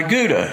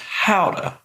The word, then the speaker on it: Gouda: try some of my gouda and he says out up so i said no i got plenty and he says look i'm from the netherlands it's pronounced howda he and his wife